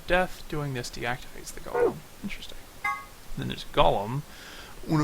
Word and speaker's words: Golem: Doing this deactivates the golem. Interesting. Then there's Golem. One of the golems, trying not to pronounce it like Gollum, found in the non-regate facility.